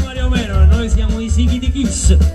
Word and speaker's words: Sikitikis: Ma qui noi non siamo Mario Merola, noi siamo i Sighi di Kiss, perché a Napoli l'accento va sempre sull'ultima.